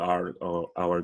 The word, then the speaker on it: our: Our gracious Heavenly Father. Nosso gracioso Pai Celestial. Então, our. A pronúncia é o mesmo de hora em inglês, tá? Our. Só não tem H.